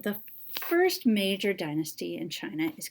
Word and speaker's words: Qin: really powerful leader of China and he is actually the person that China is named after because his name qi n is pronounced chin and this is the origin of the name of china siwon deve was the